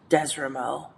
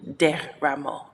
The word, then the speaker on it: Deramo: I would say Desramo, but it's really Deramo, Deramo. So yeah, and it means from the palms.